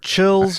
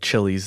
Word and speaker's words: Chiles: did childes witted yeah I've heard chills child's uh it's spelled chilies but I don't think anybody says it that way you know what if your pilot was named Chili's that would be kind